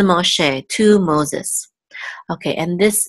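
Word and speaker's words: משה: last syllable so it's not ma che it's ma che that's the correct way to pronounce it in Hebrew ma che and ma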